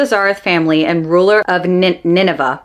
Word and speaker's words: Nineveh: Head of the Zarith family and ruler of Nineveh. Oh, it's Nineveh. It's not Na.